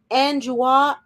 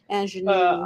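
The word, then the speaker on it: Aunjanue: of the Dog, and Anjua Ellis for King Richard. Anjanou, let me say her name right. I apologize. Anjanou.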